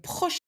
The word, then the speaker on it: prochaine: À la semaine prochaine. À la semaine prochaine. And not à la prochaine. Porsche. It sounds like Porsche. The car.